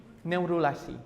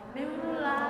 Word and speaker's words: neurula: Nurrula. Neurrula. Ya, pasti kalian kelewat bacanya berarti ini ya. Jadi embrio yang mengalami proses neurulasi dinamakan dengan neurula. Neurula ya.